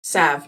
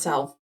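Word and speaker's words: salve: but i like it the l is silent by the way sav not sal just saying i think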